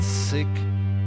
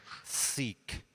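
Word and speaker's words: Sikh: Probes also clarifies that it's pronounced seek, so that I get so that I can approach a more proper pronunciation, a proper, respectful pronunciation.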